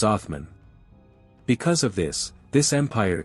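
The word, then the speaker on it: عثمان: of Southeastern Central Europe in Arabic his name is pronounced as athman because of this this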